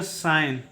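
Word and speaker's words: sign: है उसी प्रकार से एस आई जी एन में जी क्या होगा साइलेंट होगा और इसका उच्चारण करेंगे साइन ठीक है इसका उच्चारण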